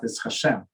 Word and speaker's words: HaShem: for polaris it means we um pronounce it hashem and he it does